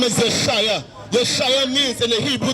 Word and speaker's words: Yeshua: How is pronouncing Jesus? His name is Yeshua.